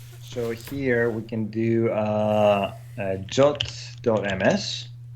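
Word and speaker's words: JWT: Somebody said that it's in the official spec that you should pronounce it as. Well, it's a suggestion. Until it says should, I'm not pronouncing it jot.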